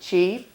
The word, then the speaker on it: qi: So the life force energy called qi, and we pronounce it qi.